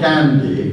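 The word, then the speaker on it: Gnady: a critical moment when somebody called Gandhi who is not the prime minister of India but it's spelled g-n-a-d-y and said to you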